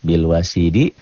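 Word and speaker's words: بِالْوَصِيدِ: Ini bil wasidi, cara bacanya bil wasid.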